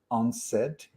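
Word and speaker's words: UNCED: was called u-n-c-e-d when when you pronounce it it's unsaid i love these type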